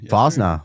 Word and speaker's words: Fosnaugh: Uh so Doug Fosna Fosna Fosna, welcome to Why We Build episode two.